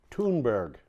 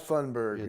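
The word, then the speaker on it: Thunberg: for and that is Greta Thun Berg tune Berg tune burgers yeah it's not fun burger that's been an American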